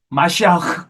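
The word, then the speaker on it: מָשִׁיחַ: 아람 계통인 거 같아요 히브리어는 마시아 이래요 마시아 이게 이런 발음이납니다 헬라 그리스는 크리스토스 크리스스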